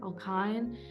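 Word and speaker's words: alkyne: How do you pronounce Y? Alkine.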